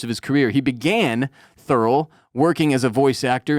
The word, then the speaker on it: Thurl: when you're high is thorough Ravenscroft it's a hell of a first name thorough t-h-u-r-l thorough Ravenscroft is spelled exactly as it sounds thurl was an American